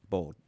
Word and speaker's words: boiled: To say it properly, you're not going to say boiled crawfish. How do you say it? Bald. Bald. Bald crawfish. Bald. Bald crawfish. Almost like bald. like someone is doesn't have hair.